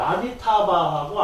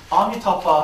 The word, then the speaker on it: 아미타바: 아미타바하고 아미타유스. 그러니까 이것은 이제 산스크리트 발음으로 아미타바. 중국 영화 보면 아미타파 하잖아요.